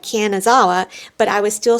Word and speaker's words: Kanazawa: standing on the right platform, I mistakenly said Kanzanawa instead of Kanazawa. Well, this led to mass confusion and we had about 10 attendants come over to us and I was showing them my ticket that said Kanazawa, but I was still saying Kanzanawa.